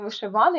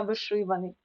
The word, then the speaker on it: вишиваний: тигровий ринковий тому що ринок виразний вишиваний не вишиваний а вишиваний також часто плутають ці слова наголос в цьому слові корисний не на ний